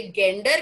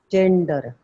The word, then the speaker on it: gender: और जब हम फॉर्म फिलअप करते हैं जिसमें एक स्पेलिंग होता है GENDER. अगर आपके पास पेपर पेन है, एक बार लिख के उसको प्रोनाउंस करिए. GEN. Gen. जेंडर. ये गेंडर क्यों नहीं है? जेंडर. ये गेंडर क्यों नहीं है अगर GUN गन है तो?